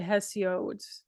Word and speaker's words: Hesiod: around 700 BC and it was written by hesiod that's how you pronounce them his name um it related to